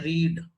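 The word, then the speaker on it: read: जब हम कहते हैं फर्स्ट फॉर्म तो पढ़ते हैं रीड, और जब सेकंड फॉर्म पढ़ते हैं तो पढ़ते हैं रेड। तो ही हैड रेड the book before he I came. Pronunciation में फर्क है, स्पेलिंग सेम।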